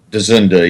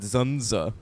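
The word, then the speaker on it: George Dzundza: character actor George dunda is that how you pronounce that dunda yeah I've said zunza no I think it's dunda I think it's I think it's Hungarian so I think the D is like like dorak like Czechoslovakian you know like dunda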